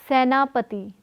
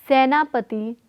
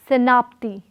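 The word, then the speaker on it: सेनापति: Together they are pronounced as Senapati. Senapati, not Senapti, but Senapati, Senapati.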